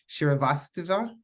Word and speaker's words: Srivastava: BNA Beva help me say your last name shirasa that's right see I I did it I